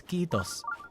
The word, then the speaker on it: kiitos: The word for thank you in Finnish is kiitos. K-I-I-T-O-S. Kiitos. And you do have to pronounce it a little bit longer, yeah. So the I is pronounced like E.